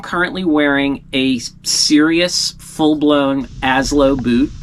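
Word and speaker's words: Asolo: wearing a serious full-blown as low boot it is not pronounced a solo it is pronounced as low uh I do that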